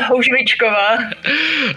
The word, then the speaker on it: Houzvickova: It's Adam Hanka and Houzvickova. Did I pronounce that right? Almost close as a Houzvickova.